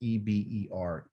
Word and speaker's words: Eber: comes from this work or this why they spell it e-b-e-r eber and he's one of the descendants of